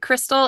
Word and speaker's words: Krystle: so I'm I'm most active on Instagram uh Crystal and la la land is my handle and it's my name is spelled weird it's k r y s t